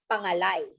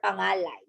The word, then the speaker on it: pangalay: Okay, and this is called pangalay or pangalay. You can say it in either of the two terms or either of the two pronunciation, pangalay or pangalay.